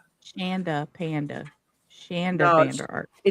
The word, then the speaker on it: Shanda: Heo, make sure Shondaanda rhymes with panda. She hates that. Shondaanda Panda. Shanda panda.